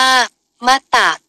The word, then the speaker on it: มต: ด สะกด มา จาก มต ต สะกด ซึ่ง เป็น ภาษา บาลี อ่าน ว่า มัตตะ แปล ว่า ตาย แล้ว